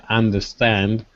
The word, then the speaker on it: understand: Yes, excuse me, teacher, but in some words like understand, the stress is going to at the end, no? In understand, the stress is actually on both. So there's actually stress on both syllables.